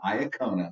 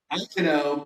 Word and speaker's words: Iacono: And we're back in Clifton today, and I have with me Iacona. No, it's Iacono. Iacono. Nobody can say that right.